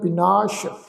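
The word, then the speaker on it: ਬਿਨਾਸੁ: विनाश सस्से पैर बिंदी लगा के पाठ उच्चारण करांगे विनाश।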